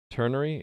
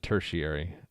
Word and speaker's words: ternary: Ternary? Yeah, you're right. I said tertiary. Ternary.